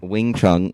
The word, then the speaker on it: Wing Chun: It's WangChung. Right, that's wrong. That's not how you spell it. No, Okay. How do you actually spell Wang Chung? Wing Chun, wing, Oh, Wing like Chun, the yes.